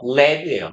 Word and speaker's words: lead: 납일 때는요. 요렇게 읽어주세요. lead라고요. 너무 없어 보이니까 발음기호 영어로 쓸게요. 그냥 이렇게 읽으시면 돼요. lead예요. lead.